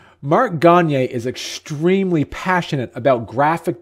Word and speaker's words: Gonyea: the studio with a virtual studio here mark Gagne I said your last name right correct gone